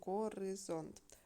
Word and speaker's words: горизонт: Go другий гриб зонд третій наголос падає на третій склад на о перевіряємо як ми підкреслили